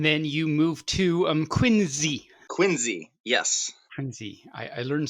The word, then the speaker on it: Quincy: people are admit that it is not quincy it is quincy is it spelled with the z no it's spelled with a c it was where john